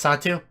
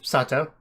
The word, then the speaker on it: Sato: So, apparently, one thing I always thought was kind of weird is how his name was written as Sato, but it was kind of being pronounced as Satu.